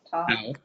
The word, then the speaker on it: tau: Tau. Tau is pronounced like T. Top. yes, T, as in tall.